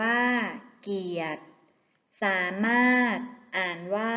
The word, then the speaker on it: เกียรติ: พรหม อ่าน ว่า พรหม เกียรติ อ่าน ว่า เกียต สามารถ อ่าน ว่า